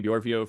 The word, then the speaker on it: Bjorvio: you can call me Borio for short um and it Rhymes you know brvo you know it Rhymes if you don't get it you're just saying it wrong um anyway uh something